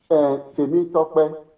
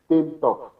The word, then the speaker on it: Temitope: or a colored person, when you write down the name Temitope, they are most likely to call it Temtop.